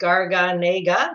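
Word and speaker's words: Garganega: Gargan Agra is pronounced Gargan Agra just like it's spelt it's one of Italy's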